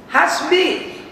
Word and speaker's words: Hasbi: Dalam bahasa Arab, kalau namaku hasbi, keturunanku mencukupi artinya. Coba buang hanya hasbi. Kalau asbi membacanya nggak ada artinya, harus ditekan sedikit. Asbi, ain.